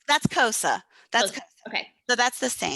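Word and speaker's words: Xhosa: Spell it. HOSA. K. Kois. X. That's Kosa.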